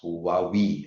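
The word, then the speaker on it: هواوي: Uh when it enters different market like when it goes to Arabic market uh it is pronounced as Huawi, right?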